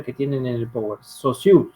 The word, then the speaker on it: Saussure: Saussure se pronuncia. Saussure, se escribe Saussure.